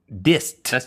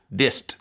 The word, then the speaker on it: disc: they're made of diss but they call them disc with a t is that just that's just a that's just slang it's a mispronunciation you used to working tobacco and you would say dist dist you fell for it too it's a